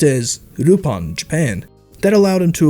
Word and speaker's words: Lupin: sounds like in japanese we would have to take out the l and pronounce the name as rupan al phonetically speaking doesn't exist in the japanese language therefore his grandson would